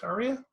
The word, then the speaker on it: Ariya: I believe it's pronounced Ariya.